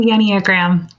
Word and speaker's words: Enneagram: Yes, we're excited to chat and get the scoop on, before I butcher the pronunciation of it, how do you say it? It's called the Enneagram. Enneagram.